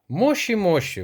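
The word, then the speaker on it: もしもし: Алло, мощі мощі вимовляється правильно японською мовою.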